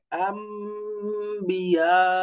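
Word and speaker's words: أنبياء: আম্বিয়া, এই যে বিয়া, সেকেন্ডারি মাদ, এই যে এখানে নুন সাকিন তারপরে বা আম, ওই যে আমরা নাবিয়ুন এখান থেকে শব্দটা নুন তারপরে আম, মিমের উচ্চারণ হয় থেকে এই যে ইখলাবের নিয়ম হিসেবে, অর্থাৎ ইখলাব হয়েছে এখানে, নুন সাকিন পরে বা।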